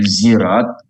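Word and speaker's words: صراط: Tapi kalau ada yang membacanya zirat, itu benar juga. Umpamanya Ibu ke Turki atau kemana, zirat bacanya bukan sirat ini, itu dia benar.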